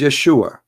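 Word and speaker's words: ישוע: pronounce the correct word the correct word in the Hebrew is Yeshua as simple as that so it's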